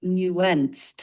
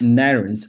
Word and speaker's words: nuanced: Careful with nuanced. It's nuanced. Narance. I think it's a narance. And a I'm sorry. N a U A N C E D. It's n u a n c e d. Nuanced.